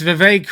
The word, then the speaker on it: Vivek: So yeah, that's Vivek, rhymes with cake.